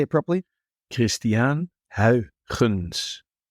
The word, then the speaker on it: Huygens: the pronunciation here, because in England we call him Christian Huygens or whatever, but I know that there's something in the throat that we need to be aware of there.